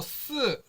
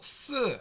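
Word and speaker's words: 四: 중국에서도 중국식 발음이 비슷합니다 숫자 4는 중국어로 쓰 라고 발음을 하고요 으 죽다 라는 발음은 스 라고 발음을 합니다 그래서 어 매우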